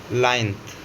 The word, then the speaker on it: plinth: इसको हम कहते हैं लाइन्थ, PLINTH, जहाँ P साइलेंट होता है।